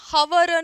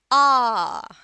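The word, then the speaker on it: hour: इट is never ever हवर र। क्या होता है सही उच्चारण? आ। आ र भी नहीं होता है क्योंकि एच भी साइलेंट है और र भी साइलेंट है।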